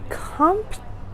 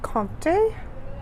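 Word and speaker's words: Comté: All right, this is the Comte Reserve. Comte? There's no accent on the card. I actually do speak French. I think it's Comte, but they didn't put an accent.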